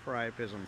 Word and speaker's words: priapism: the correct pronunciation of priapism I actually kind of knew also and Chris helped me out he said that it sort of rhymes with prior prism which are two words